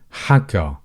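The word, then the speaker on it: حكى: It's simply a as in apple. So you would say haka.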